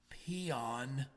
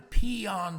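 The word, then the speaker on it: paean: You got to say that word carefully. It's spelled P-A-E-N. It's a praise. I did hear a radio announcer one time say, well, it's time to pee on Brody's ice cream.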